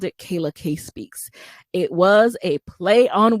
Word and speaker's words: Kayla K Speaks: No one could pronounce it. They were calling it Kalia. They were calling it Kayla Speaks. It was a mess.